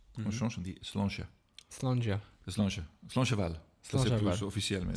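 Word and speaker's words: Slàinte mhath: Slancheval.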